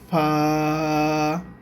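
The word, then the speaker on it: فاء: এই অক্ষরটার নাম হবে ফা এই অক্ষরটার নাম হচ্ছে ফা এই অক্ষরটার নাম হচ্ছে ফা আচ্ছা ফা এর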